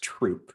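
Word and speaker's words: Throop: think it's actually pronounced troop like troop of soldiers uh but it changed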